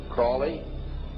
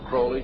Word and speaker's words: Crowley: learned about was aliser Crawley he likes to have his name pronounced Crowley to rhyme with holy and uh these satanists